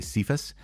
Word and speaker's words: Kepha: But Kepha sounds actually more close to what it would be called in Hebrew or Aramaic, in those Mediterranean languages. And actually, there's an argument the pronunciation is Kepha.